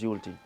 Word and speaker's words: Youlty: what's your name I said my name is yulti interesed Al y some people doesn't know how to to pronounce it a i a y so the